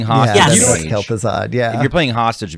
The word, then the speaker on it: Kel'Thuzad: I don't know how to pronounce it. Kelthos, the mage. Kelthos? I mean, Kel'Thuzad. I love. It's Kel- Yes, Okay. exactly. Oh, Kel'Thuzad.